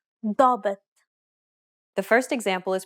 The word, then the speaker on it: ضابط: دائم ضابط. The first example is pronounced as expected. In the second example, however, the long A is once again pronounced deeply.